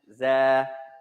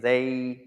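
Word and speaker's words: زاي: There are two ways to pronounce the Za. You're not wrong there. Some scholars say Zay. Some scholars say Za. Sometimes that's a mispronunciation. Sometimes it's your country. Sometimes it's your tribe. Sometimes in Pakistan, they have a slight incorrect pronunciation. Some places in Africa have a slight incorrect pronunciation. At any rate, this word or this letter, you can say it one or two ways. Za or Zay.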